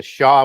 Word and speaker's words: Xia: And that was the bloodline of the Shah dynasty, Xia, as it's spelled. Xi comes from the western branch of that bloodline. It was, again, You have the Shah, which XIA was the